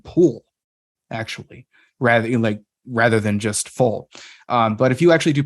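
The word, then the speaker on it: Phol: it's Balder is because people have also pronounced it as just a P. So it would be pole rather than full. And that doesn't make sense to me, because if you pronounce it as pole, then there's no alliteration in the verse whatsoever, or that line whatsoever.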